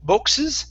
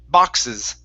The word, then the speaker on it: boxes: next up we have the word boxes instead of boxes it's an ah sound boxes boxes all right very